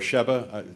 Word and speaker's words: Sheba: By the way, it's simply known as Sheba over there, or Sheba. Am I pronouncing it?